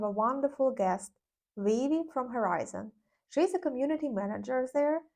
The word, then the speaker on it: Herizon: Is it the right way of pronouncing it? Herizon or Herizon? Herizon. So it's like Horizon, but it is for her.